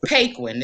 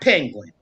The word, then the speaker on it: Paquin: get that name right it's paquin it's not penguin spell it p-a-q-u-i-n okay well he was walking